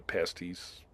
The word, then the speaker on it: pasties: Uh you can't get the uh pasties. Is that the right word? Yeah. Yep. Yeah, that's how you pronounce it.